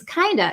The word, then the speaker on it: kind of: So very similar similarly with um have v kind of vv that v sound. Um we we kind of just get rid of that and then we're left with the vowel sound. So we say it's kind of it's kind of boring.